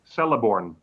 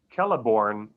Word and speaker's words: Celeborn: in relation to galadriel i for years and years and years made that mistake that was pronounced celeborn and then somebody who knew a lot better than me was was like well wait a minute there's certain things that are going on in tolkien's languages that are consistent and check it out it's actually keller born and even peter jackson's